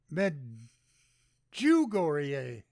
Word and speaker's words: Medjugorje: Okay, they have a pronunciation here. Medjugorje.